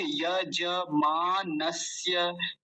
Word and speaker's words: यजमानस्य: यजमानस्य, यज, यज नहीं बोलेंगे, यजमानस्य, यजमानस्य।